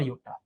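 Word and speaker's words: yotta: है जेटा और योटा जेटा spelling mistakes हो सकती है है ना जेटा और योटा बट ऐसे प्रोनाउंसिएशन यही है और न्यूमेरिकल वैल्यू भी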